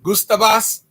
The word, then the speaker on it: Gustavus: google them gustavus vassa that's like gustav or uh you can spell it like gusto g-u-s-t-a-v-u-s gustavus gustavos or gustavus um vasa v-a-double-s a